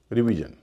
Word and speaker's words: revision: आइए कुछ शब्दों से इसे कंफर्म करते हैं, जैसे REVISION रिवीजन। इसमें SION से पहले 2 वावल हैं, ई और आई, उच्चारण हो रहा री।